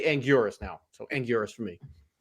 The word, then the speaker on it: Anguirus: So, I used to love the pronunciation of Angillis. Um, that's what I grew up knowing him as. But when Toho officially came out and was like, "No, it's Angurus."